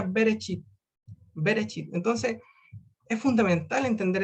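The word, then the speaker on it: בְּרֵאשִׁית: llama be be rachid podríamos decir que se pronuncia bereshit verichip entonces es fundamental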